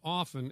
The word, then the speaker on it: often: tell you something pal the te and often is silent yeah that could be